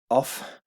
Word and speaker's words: of: abbasi's monastery okay so off requires even though we pronounce modern english of but in old english it would be off off requires a dative